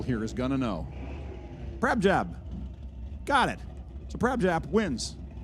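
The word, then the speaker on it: Prabhjap: Prabjab.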